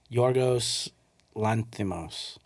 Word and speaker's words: Yorgos Lanthimos: Did he pronounce his name on Go ahead and try it real quick. Yorgos Lanthimos? Yorgos Lanthimos.